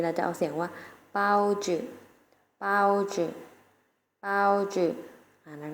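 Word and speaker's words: 包子: ใน ภาษา จีน แล้ว จะ เอา เสียง ว่า เปาจื่อ เป้า ชื่อ เอา ชื่อ นัก เรียน ออก เสียง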